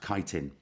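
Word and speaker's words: chitin: as well um and that carbohydrate is called kiteen so you can see it in Brackets there um it's not it it looks like you could pronounce it that it's actually pronounced kiteen but you pronounce it any way you like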